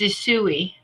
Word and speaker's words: Usui: Pronounce the type of Reiki for me. It's Usui. Usui Reiki master.